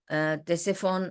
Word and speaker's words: Ctesiphon: تو it is ایسفون, تیسفون ایسے کہا جاتا ہے اس کو.